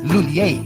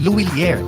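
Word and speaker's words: M Lhuillier: English speakers commonly pronounce it as Lulier. But for Filipinos, mas madaling ibigkas ang Luilier.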